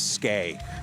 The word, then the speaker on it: Skey: Ski is spelled ski. This is skay. So skay.